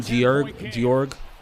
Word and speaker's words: Georg: Do you know they used to pronounce that name Georg, not actually George? There was never a King George. It was King George, Georg.